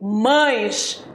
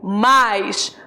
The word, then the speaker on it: mas: olha lá o mais você prestou atenção na minha pronúncia eu não falei mães eu falei mais não existe mães existe mais devo pronunciar mais para essa conjunção adversativa da mesma forma que